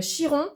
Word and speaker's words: Chiron: On a donc le soleil euh Mars, Mercure, euh Chiron ou Kiron en fonction des prononciations de chacun, 1 2 3 4 On a euh comment elle s'appelle ?